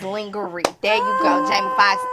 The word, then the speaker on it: lingerie: the first person that taught me that lingerie is not the correct way to say lingerie but that's how we I've been saying it ever since In Living Color and wonder it is lingerie there you go Jamie